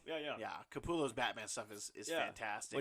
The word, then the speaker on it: Capullo: Yeah, Greg Capullo. Yeah. Capullo's Batman stuff is fantastic.